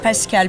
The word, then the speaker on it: Pascal: It's a Sunday, and I'm here with Pascal. Am I pronouncing it right? Yes, you're right, Pascal.